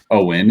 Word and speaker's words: OWYN: it accurately um so the correct way to say it is owen and thus far we